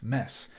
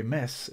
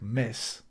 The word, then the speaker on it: mes: a mess okay m-e-s-s mess well in Spanish the word m-e-s mess which is pronounced that way Miss it's not really mess it's more like Miss but it's pronounced pretty